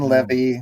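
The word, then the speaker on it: Leavy: one is amazing yeah Jane Levy spelled like heavy only with an L but she said that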